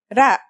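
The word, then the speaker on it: ر: our first letter is its closest english counterpart is the letter r but it's a different sound that must be learned ra it's not too hard to pronounce though right note how it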